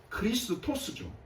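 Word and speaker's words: Χριστός: 정확하게 헬라어 발음으로는 크리스토스죠. 크리스토스. 크리스토스를 한국으로 음영하다 보니까는 너무 세니까 그리스도 이렇게 한국으로는 그리스도라는 단어를 만들어서 이렇게 부르는 겁니다. 헬라로는 크리스토스죠.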